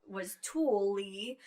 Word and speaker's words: Tooele: I mean, when we were looking for homes in Utah, we thought Tooele was Tool-y.